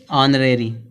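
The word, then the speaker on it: honor: यहाँ पे बड़ा आ निकल रहा है, ऑनरेरी।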